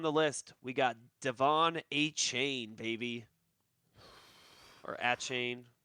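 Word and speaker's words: Achane: First on the list, we got Devon Achain, baby. Or Achain. How do you pronounce that name? It's Achain.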